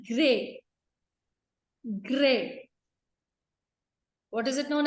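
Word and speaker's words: Gruyères: and chocolate factories at now the spellings are g r u y e r e s but it is known as gray gray what is it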